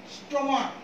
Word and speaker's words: stomach: I can give you an example for this rule, such as stomach, S-T-O-M-A-C-H. Here last two alphabets are C-H, but in Bengali it is pronounced, its pronunciation is ko, stomach, ko.